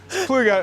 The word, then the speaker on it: Ploeger: It's Ploeger, it's Dutch.